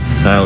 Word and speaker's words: Kyle: Like you say, the character Lindsay, played by is it pronounced Kylie or Kyle? Kyle Richards.